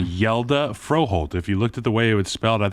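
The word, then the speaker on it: Hjalte: some help from Reed and Matt on the pronunciation yelda fro Holt if you looked at the way it was spelled I think it's h-j-a-l-t-e which is like hejalty and they're like nah it's yelda bro say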